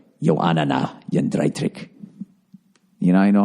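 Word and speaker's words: Jędrzejczyk: Yoanna Joanna Jedrzejczyk. Did I say it right? Joanna Jedrzejczyk.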